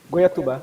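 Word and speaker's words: Goiatuba: niveau de la prononciation à guatouba guayatuba oui c'est ça goay on y était presque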